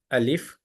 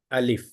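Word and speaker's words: ألف: each letter this is alif the common mistake here is prolongation in the name itself alif this is a mistake so this has no prolongation just you have to say alif a l i f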